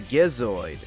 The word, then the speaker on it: Gizoid: The robot is apparently known as a Gizoid, pronouncing it with a G because there's no way it sounds right with a J, and the Gizoid ends up being discovered by Sonic.